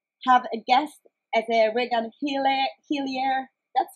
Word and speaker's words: Regan Hillyer: And I'm so privileged to have a guest as a Regan Hillyer. That's how you pronounce it?